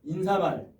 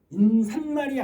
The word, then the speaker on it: 인사말: 인산말이 아니라 인사말, 머리말, 해님이라고.